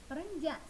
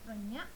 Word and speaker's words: perenjak: Jadi di sini bacanya bukan manjing ya, tapi mancing. Bukan perenyak, tapi perenjak.